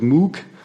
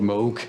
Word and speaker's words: Moog: Mo Bob Mo um many people pronounce it moo but uh he insisted that this should be called Moog I found out later